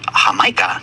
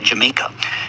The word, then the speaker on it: Jamaica: Now, most relevant to this discussion, the initial consonant was spelled with the Spanish jota, corresponding to the English J. And the English later took the island from Spain, and when they did, they kept the Spanish spelling of the island's name, but started pronouncing the characters the English way. And so the Spanish Jamaica became the English Jamaica.